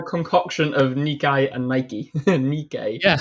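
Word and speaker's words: Nikkei: two syllables and the stress on the second syllable. The first part sounds like ni and the second part sounds like k. Nikke.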